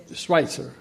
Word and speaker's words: Schweitzer: Su segundo apellido es Schweitzer. Schweitzer, una pronunciación no alemana.